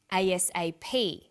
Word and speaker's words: ASAP: read-only memory notice that each letter in the abbreviation is pronounced separately but the last letter is pronounced more strongly because it carries the primary stress so we say u.s.a ASAP ABC and TV listen